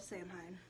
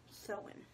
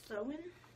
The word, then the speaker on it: Samhain: gives me the pronunciation sewin pronounce so in okay it doesn't even look like it's spelt the same but pronounced so in the celts who lived